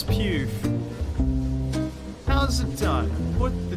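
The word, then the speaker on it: Pugh: it to my mouth is it pronounced florence pal no it's pew how's it done put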